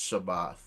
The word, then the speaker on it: Shabbat: The last character is a tha character. So, I would pronounce Shabbath.